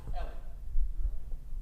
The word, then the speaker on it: Eli: It is spelled Eli, but pronounced Ellie.